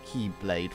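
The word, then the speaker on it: χ-blade: created the Keyblade which is represented by an X like symbol in the game but is said to be pronounced as Keyblade for some reason to make it more complicated anyway Z naught also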